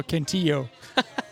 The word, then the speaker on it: Cantillo: short season A, Joey Cantillo. Is that how you say it? Cantillo? I don't know. It's definitely a Y sign. Double L's a Y sound, so Cantillo.